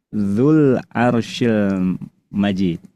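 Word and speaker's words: ذُو الْعَرْشِ الْمَجِيدُ: Kalau 2 kata dan sukun satunya adalah huruf mad, cara bacanya huruf madnya dibuang, tidak diucapkan, dihilangkan secara bunyi sehingga hasilnya berubah. Yang asalnya dzu itu panjang berubah jadi pendek. Dzul Arsyil Majid.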